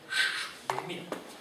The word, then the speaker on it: Schmitt: Mira, esta palabra Schmitt es alemán, se dice Schmitt, pero no es la misma que en inglés. Smith. Entonces, hay que pronunciarla de otra manera.